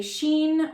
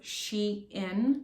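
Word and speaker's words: SHEIN: have a sheen or I thought it was she in because it's spelled as a capital letter s h e capital letter I and so I thought was she in but I think it's Sheen correct me if I'm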